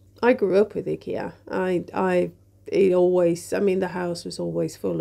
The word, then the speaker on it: IKEA: And I also wanted to talk a bit about IKEA. I know that you pronounce it IKEA out there. In Sweden we pronounce it IKEA, And the name comes